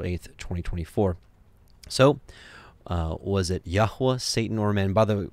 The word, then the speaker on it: Yahweh: So, was it Yahweh, Satan, or man? By the way, and just in case you may not know, Yod-Heh-Vav-Heh, it's the Tetragrammaton. We understand the correct pronunciation is Yahweh.